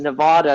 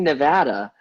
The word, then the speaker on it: Nevada: to the east coast everybody here i work with says nevada nevada nevada and i'm like what are you talking about it's freaking nevada so i always have